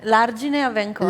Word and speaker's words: L'Argine a Vencò: did I pronounce it well? Argine a Vencò? L'Argine a Vencò.